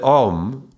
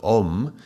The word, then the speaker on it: Om: And so in order to pronounce it properly, the way I was taught to chant Om would be to open the mouth and leave it open, and the tongue is